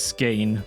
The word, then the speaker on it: skein: So, a ske, I pronounced it ske in the previous video, but it's ske with the dip thong a um it is